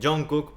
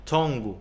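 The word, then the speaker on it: 정국: pero quiero decirles que está mal dicho el nombre John Cook porque lo romanizaron al inglés, John Cook. Si ustedes se meten por completo a la hora de pronunciar el idioma, se van a dar cuenta que esta pronunciación John Cook está mal dicha. La pronunciación correcta es tongu, cambia muchísimo y es muy importante este factor.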